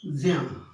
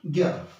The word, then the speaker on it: ज्ञ: है, ज धम इया, तो कायदे से इसका उच्चारण होना चाहिए ज्या, है ना। इसका उच्चारण क्या होना चाहिए, ज्या। आप देखेंगे कि जो बहुत तत्समनिष्ठ उच्चारण करते हैं, तमाम लोग ऐसे हैं, वो इसको ज्या ही पढ़ते हैं, लेकिन आम प्रचलन जो आम चलन है उसमें अधिकतम लोग इसका उच्चारण करते हैं ज्ञ, लेकिन यह क्या है, यह है ज्ञ।